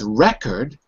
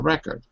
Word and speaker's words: record: or is it record so if it's record the stress is on the first syllable and it's a noun going to play the record dco Disco If it's record it's a verb in the stresses on the second syllable so that's strong